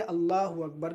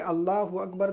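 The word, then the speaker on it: الله أكبر: تلفظ کا غلط بولنا۔ اگر بندہ اللہ اکبر میں اللہ کے الف کو کھینچتا ہے یا اکبر کے الف کو کھینچتا ہے تو معنی اور مفہوم بدل جاتا ہے، جس سے نماز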